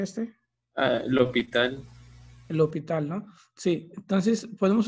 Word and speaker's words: L'Hôpital: Regla de, ¿cómo se pronuncia este? L'Hôpital.